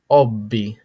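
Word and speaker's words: hobby: borrowed word is Obi Obby notice the H is silent okay but still used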